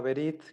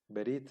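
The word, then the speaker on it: ברית: se va a pronunciar por ejemplo aquí la palabra verit que significa Alianza verit significa Alianza como la antigua Alianza vean como tenemos unev al inicio de la palabra siempre que se va al inicio de la palabra siempre se va a pronunciar ahí no le antecede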